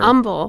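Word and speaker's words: Humble: it's tumble but or umble whatever Umble we're so Umble we don't pronounce the h we just foro the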